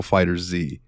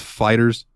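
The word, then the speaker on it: FighterZ: ] pronounce this game I call it Dragon Ball fighter Z is it just Fighters it is just Fighters it I always thought it was fighter Z too dude fighter Z sounds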